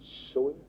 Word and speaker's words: sunt: Il énonce ça dans un écrit qu'il a fait en latin, et il l'appelle nomina sunt. On prononce sont en français.